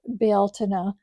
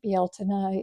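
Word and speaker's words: Bealtaine: down in my grimoire here for Beltina or Beltine some people say, but Bealtina is the uh Irish pronunciation for Beltaine.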